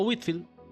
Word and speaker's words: Whitefield: White Whitefield. Y la predicación al aire libre. Sí. ¿A quién me querido? Whitefield o Witfield, cualquiera de los dos, por favor, perdóname.